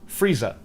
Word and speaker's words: freezer: Freezer in North American English is Frieza in Cockney English, and Lisa rhymes with Frieza.